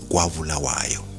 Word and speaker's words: Kwabulawayo: The one in KZN is pronounced Kwabulawayo, and the other in Zim is pronounced Kobulawayo.